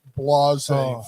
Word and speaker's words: Blasey: Her name's Christine Blasey Ford. Okay, there we go. Because she's very blasé.